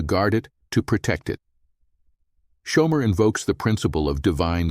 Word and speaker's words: shomer: Shomer is pronounced with the emphasis on the first syllable, shomer.